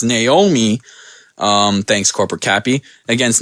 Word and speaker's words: Naomi: we had no Naomi sorry I said it wrong my last podcast my co-host pointed that out it's Naomi um thanks corporate Cappy